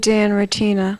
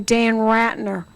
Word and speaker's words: Dan Ratina: That's the way you say his name, darling. Dan Ratina. Dan Rotina. Ratina. Ratina. Dan Ratina. Remember that. He hates when people call him Dan Ratner.